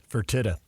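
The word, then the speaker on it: Fertitta: thank you how do you say that name fertita thank you I'm glad you Jo back I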